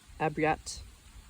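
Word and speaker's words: обряд: Footnote the Russian word for right orad pronounced abriat. Abriat is derived from the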